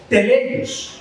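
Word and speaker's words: τέλειος: A los que tienen inquietudes con las palabras en el original, se pronunciaría algo así como teleios, en griego, ¿sí?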